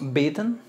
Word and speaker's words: bitten: es bet después tenemos bitten se elimina la e aquí simplemente pronuncias bit n bit n bitten bitten sí no se no suena la e no es bitten es bitten bitten después tenemos break break